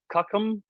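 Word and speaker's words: CUCM: Um, pronounced cuckum.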